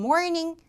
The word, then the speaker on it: morning: The morning rush hour.